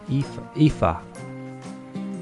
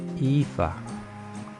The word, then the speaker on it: Aoife: Phonetically, not phonetically. I forget what the word is. Is it like waif? Aoife? Aoife.